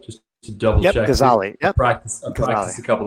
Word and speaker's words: Gazzaley: Adam Gazzaley, who is, and Adam, am I pronouncing that right? Just to double check. Gazzaley.